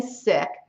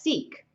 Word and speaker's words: Sikh: little lesson i'm saying sick that is spelled s i k h s i k h and you often hear it pronounced as seek i thought it was